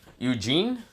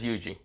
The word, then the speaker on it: Yuji: thinking of like i'm saying eugene not yuji but yes yuji you're not eugene i'm